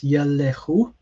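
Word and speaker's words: יֵלְכוּ: So sorry, it's not yelchu. It's yelechu, as in here.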